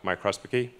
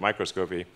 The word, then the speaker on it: microscopy: with a two-photon uh microspicy i always have trouble pronouncing that microscopy um and it's very